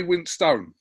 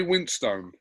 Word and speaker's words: Winstone: ray winstone stone ilyan so you do pronounce it ray winstone yeah i mean i'm as guilty as anyone else because i get lazy at times and it comes out as winston but it's winston yeah